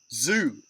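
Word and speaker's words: Zhu: Zoo. Z-H-U is how it's spelled.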